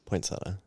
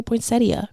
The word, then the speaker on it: poinsettia: I was to say do you say poinsetta or poinsettia poinsetta yeah some people say poinsettia cuz it's like spelled like that well potato potato learning